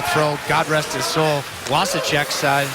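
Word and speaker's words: Vašíček: You might as well throw, God rest his soul, Wasicek's name in the W's too, even though it was spelled with a V but pronounced with a W.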